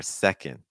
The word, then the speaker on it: second: Do you hear how much stronger the first syllable is? Like if you say second three times, the part that your listener should hear is that se.